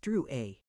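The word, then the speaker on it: Drouet: It's pronounced Drew A. Our family was French on my father's side.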